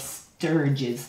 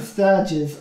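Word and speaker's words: stirge: this huge group of sturges, they're called. Sturge. I think that's how you pronounce it. S-T-I-R-G-E. Sturge.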